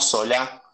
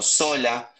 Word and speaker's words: Sola: Fíjense en 1824 que Sola, no Sola, como el actual dirigente político, sino Sola, sin acento en la A, hay un pueblito cercano